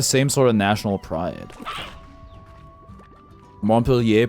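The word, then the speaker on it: Montpelier: Vermont's pronounced like you imagine an American would pronounce it reading it for the first time. Montpellier.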